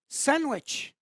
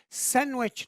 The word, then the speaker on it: sandwich: For the third word, sandwich. So the silent letter here is the D. We say sandwich, not sandwich.